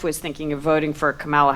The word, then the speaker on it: Kamala: thinking of voting for Camala Harris uh camela Harris sorry that the American pronunciation gets into your head and distorts it but um and uh